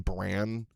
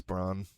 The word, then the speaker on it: Bronn: Broner, I think I said his name wrong. I think I called him Bran. It's Bronn.